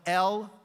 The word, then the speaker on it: LOMA: It's the Lower Market Design District, and it's spelled L-O-M-A.